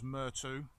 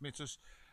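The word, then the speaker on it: Myrtos: road past Assos, Mitus, which some of you might know as Mertu, but apparently it's pronounced Mitus, and then we'll go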